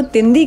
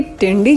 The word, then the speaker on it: तिंदी: नहीं था कि इस गांव को तिंदी कहते हैं, ना कि टिंडी जैसे मैंने प्रोनाउंस किया है।